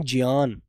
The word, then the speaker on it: ज्ञान: शब्द लिखा ज्ञान ज्ञान तो हम लोग इसे ज्ञान पढ़ते हैं जबकि इसकी जो मुख्य आवाज है बेटा वो ज से शुरू होती है तो यह शब्द बोला जाना चाहिए उच्चारण में ज्ञान जय जय जहाज ज्ञान बोला जाना चाहिए है ना लेकिन मेरे बच्चों जब अया इसमें जुड़ जाता है तो ज्ञ की आवाज दी जाती है ज्ञान और आप ज्ञान को